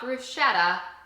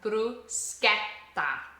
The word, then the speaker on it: bruschetta: The next one, it's not bruschetta. Bruseta. That c h e is a k and an e.